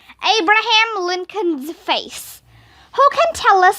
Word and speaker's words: Lincoln: Abraham Lincoln's Face. Who can tell us something about the real Abraham Lincoln? Miss Daisy asked after Mr. Macky left with his hat and beard. Lincoln rhymes with stinkin', I said.